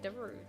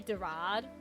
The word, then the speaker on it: Darude: Oh, I was right, Darude. Because I used to say Darad. Like Samsung Darad, and I'm like, that does not sound right.